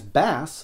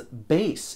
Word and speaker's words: Bass: I've missed a couple some Mega Man fans pronounce this character's name as bass some as bass in defense of the musical pronunciation bass's robot wolf SL jetpack buddy is called treble and when they combine he's called Super Bass which Super Bass Just